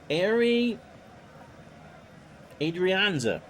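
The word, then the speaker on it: Ehire Adrianza: answer is oh good let me try to pronounce this name for you arie adrianza am i close airy 247 five overs a 28 rbi wow that is the correct pronunciation pitch to airy is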